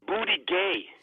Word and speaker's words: Buttigieg: Pronouncing Pete Buttigieg, you were saying Buddha, but it's not. It's booty gay because the G is silent.